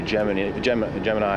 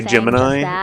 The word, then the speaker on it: Gemini: Gemini instead of Gemini. It's really nice to see everybody because I feel like it should be pronounced Gemini, but all the astronauts say Gemini for some reason.